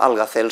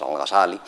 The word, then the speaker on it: Al-Ghazali: Perdón, pronuncio Al-Ghazal siguiendo la traducción de los latinos medievales en general, y como en las obras de Asín, y para el público español, pues Al-Ghazal es Al-Ghazali.